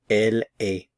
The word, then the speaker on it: elle est: L A she is notice I'm not pronouncing the consonants at the end of the verb form El a you just hear The Vow El she is okay